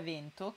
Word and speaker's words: vento: L'unica parola comune che sbaglio e di cui mi accorgo è vento, che dico chiusa ma dovrebbe essere aperta.